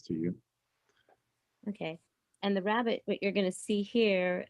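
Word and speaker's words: rabbet: a little bit now rabbit uh and yes it's pronounced like bunny rabbit but yeah let me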